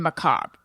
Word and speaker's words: macabre: But anyway, I remember one time he's like, "Why are you pronouncing the R in macabre?"